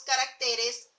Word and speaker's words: caracteres: cuando nosotros le colocamos el plural y decimos caracteres ya no lleva latín seguimos en régimen también lleva tilde en la e pero cuando decimos y